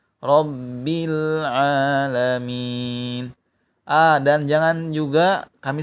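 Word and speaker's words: رَبِّ الْعَالَمِينَ: ditahan rabbil gitu ya Jangan pula di jeda Rom mi A3 juga tapi harus nyambung rabbil alamin ah dan jangan juga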